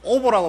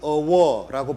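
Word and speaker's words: овоо: 그 다음에 제가 오보라고 말씀드렸잖아요. 오보에 선앙자 같은 거. 영어로 이야기하면 오보라고 하지만 실제 몽골에 가면 어워라고 발음합니다.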